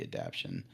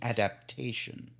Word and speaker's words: adaptation: be happier with the adaption um that I'm sorry the Discord group corrected me on my pronunciation the adaptation uh they were very